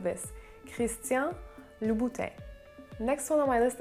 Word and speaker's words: Christian: so the first name the n in christian in french it's silent so it's christian christian the same goes for